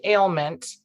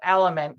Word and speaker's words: Aliment: of your company because I always think ailment where did you get the name of element cuz it looks like it may be something in Italian so yeah you you hear it in Italian it's also like Spanish